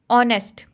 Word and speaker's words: honest: Talk, talk, इसमें TALK, talk, इसमें L silent है, ठीक है, यहाँ पर क्या साइलेंट है, एल। नेक्स्ट है बच्चों ऑनेस्ट।